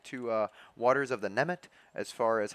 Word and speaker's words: Nemegt: uh Waters of the Nemegt as far as how I'm going to pronounce it. It does seem like that G is silent, and then it's kind of in two parts, Nemegt.